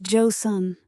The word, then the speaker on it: Joseon: The Josan dynasty has begun. Pronounced Joe Sun.